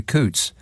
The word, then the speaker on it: Cootes: fuss over his treatment by Coots. That's spelled Cootes. No.